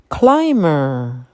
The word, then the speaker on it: climber: was a clever answer climber the climber is going up the wall some Vines are called climbers please note that the bee in climber is silent cracker I like to